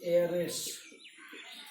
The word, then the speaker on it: heiress: इसको क्या करते हैं, एरेस, ये क्या हो जाता है उत्तराधिकारी, ये इस तरह से जो है ना NARS।